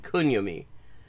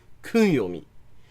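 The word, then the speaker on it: 訓読み: know anything about this, because listen to that pronunciation, onyomi and kunyomi. That is, like, literally none of that is a sound that is resembles the Japanese pronunciation onyomi, kunyomi.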